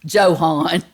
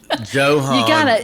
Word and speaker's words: Johann: Johann. Sorry. Johann Gutenberg. My brain sometimes when I'm reading this is not working fast enough to go, oh, this is a different language. You pronounce this word differently.